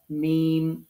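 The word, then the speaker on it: م: আর যখন মিম উচ্চারণ করব ঠোটটাকে একটু বাঁকা করে ধরতে হবে। মিম যে শুকন যে অংশটা আমাদের দুই ঠোটের সেই শুকন দুই অংশকে মিল করলে মিমের সঠিক প্রোনাউন্সিয়েশন সঠিক মাখরাজটা আসবে।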